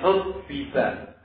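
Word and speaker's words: حُبِّبَ: alihi wasallam bersabda, hubbiba, bacanya hubbiba menggunakan mabni majhul.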